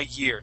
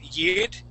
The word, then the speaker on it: year: So instead of pronouncing that R, using a hard R and saying yid, okay. Year. We want to say year.